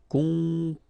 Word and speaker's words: composer: Okay, O and M together, after that a consonant, so it's the nasal on. Composer. Okay, you pronounce it Z here because you've got two vowels and only one S. Composer.